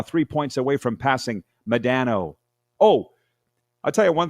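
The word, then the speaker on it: Modano: We've been saying Mike Madano. Apparently it's Madano.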